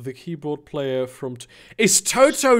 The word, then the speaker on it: TOTO: Also, apparently, it has an accent on it, which means it should be pronounced as it would the Italian name, which is Toto.